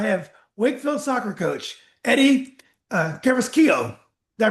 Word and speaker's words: Carrasquillo: Tonight on Nova Legends, I have Wakefield soccer coach Eddie Carrasquillo. Did I pronounce that right, Coach?